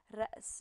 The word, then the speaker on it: رأس: It's not two syllables, but something like that. So it's رأس. You make a stop and then continue.